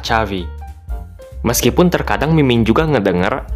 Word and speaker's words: Xavi: Makanya pelafalan nama seorang gelandang legendaris timnas Spanyol dan FC Barcelona adalah Chavi. Meskipun terkadang mimin juga ngedengar ada yang menyebutnya Xavi, dulu mimin tetap nyebutnya ya Safi juga.